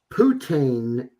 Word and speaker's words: poutine: Putin. How do you pronounce that? Po- Poutine yeah, I'm burgers.